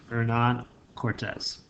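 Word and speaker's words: Hernán Cortés: in Spanish you out don't pronounce the h kind of beginning of name so Nan Cortez he led a group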